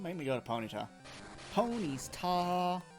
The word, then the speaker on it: Ponyta: me go to ponyta pony's tall and that's how you say it's not pony's tots ponies tall here's